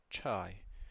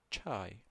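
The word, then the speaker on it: چاي: je Jamea Jamea Okay, we have che che as in church, chai. So, it's pronounced che che chai chai tea So, in Iraqi, if you want to order tea I read chai, I want tea.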